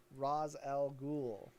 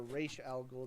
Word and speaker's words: Ra's al Ghul: Okay, so this is basically this is your introduction and kind of story of Ra's al Ghul or Ra's al Ghul, depending on how you'd like to pronounce it.